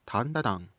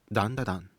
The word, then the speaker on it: ダンダダン: Is the anime with a Creepy Nuts opening called tantatan? It's ダンダダン.